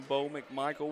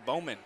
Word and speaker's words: Bo McMichael: I'm Bo McMichael with Score Sports. I'll try to slow down when I say my name. I had somebody come up and ask me if I'm Bowman. Are you Bowman? And I'm like, yeah, I probably pronounced that too quick.